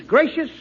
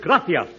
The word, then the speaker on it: gracias: Muchas gracious amigos. No, no, no, not gracious. That word is gracias. You see, in Spanish, the C is pronounced th gracia.